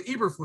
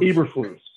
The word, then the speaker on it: Eberflus: Oh, it's Eberflus. Eberflus.